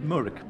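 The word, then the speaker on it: Mooragh: We were having a bit of a debate about Murrick, how you actually pronounce with a K, isn't it? Murrick Park.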